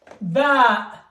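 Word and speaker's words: باء: So, I will say the name, and then I will say the pronunciation. Alif, a. Ba, ba.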